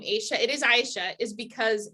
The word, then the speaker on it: Aisha: So why I pronounce my name Aisha, it is Aisha, is because not one of my teachers, I